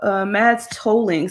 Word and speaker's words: Mads Tolling: So she's talking about Mads Tolling.